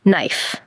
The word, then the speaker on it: knife: It's just like the word knife. Oh, like the knife that cut my finger. K-N-I-F-E. Yes. The K is silent there too.